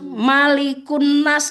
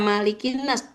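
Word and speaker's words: مَلِكِ النَّاسِ: Kan itu soalnya setara dia menggabungkan dengan di depannya tadi loh dengan birabbin nas tuhannya manusia maka malikinas dibacanya kasrah. Oh gitu. Enggak malikun nas. Kenapa enggak malikunas?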